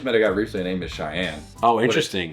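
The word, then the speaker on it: Shayan: Um I just met a guy recently named Cheyenne.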